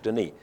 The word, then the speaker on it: Denis: But nobody over here says it properly, they just call it Dennis, which really grates against me. So I put the S off the N and put an E on it to make people say it properly, so it's French Denis.